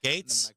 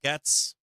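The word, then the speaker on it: Gaetz: side of 600 minutes is it Gates am I pronouncing it wrong gates2 is it Matt Gates Matt gats Matt gats is it pronounced Gates Matt gates gates I got it right Gates I've heard his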